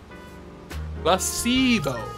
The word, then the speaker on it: placebo: The stress is on the middle syllable. Placebo.